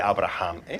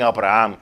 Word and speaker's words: Abraham: si estamos hablando de abraham si hay un amigo que conozco y me dice porque a veces las personas no pueden casi pronunciar mi nombre me dicen abraham cuando es abraham muy importante si aquí